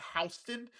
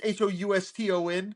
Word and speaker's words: Houston: Which, by the way, when I traveled to New York, Soho is South Houston, and we were told it's Houston. Yeah. We were told it's not Houston, it's Houston.